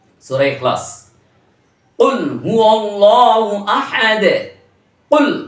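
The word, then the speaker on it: قل: কুল বড় কফ দিয়ে করতে হবে কিন্তু উচ্চারণ। বড় কফ ছাড়া আপনি ছোট কফ দিয়ে উচ্চারণ করলেন তো ধরা খেয়ে গেলেন।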